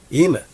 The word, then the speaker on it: Bemand: We got Rory Dolan, Luke Bemand, Jonny G. Welcome and welcome back to the Upful Life podcast. Luke Bemand. Bemand.